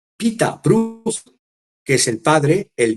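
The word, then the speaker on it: Pieter Bruegel: e hijo uno es Pedro bruegel que se pronuncia Pita bru que es el padre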